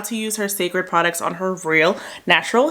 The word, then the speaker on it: Cécred: hair looks like also I had to look up how to say the name of her line sacred I didn't I had asked my girl Cammy shout out to Cammy sacred okay okay here's their